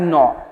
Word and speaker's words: gnaw: तो animals that नो, ये आपका स्पेलिंग है GNAW, लेकिन इसका हम लोग प्रोनाउंसिएशन करेंगे नो टाइप का, नो।